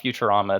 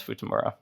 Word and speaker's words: Futamura: It's not Futurama, it's Futamura.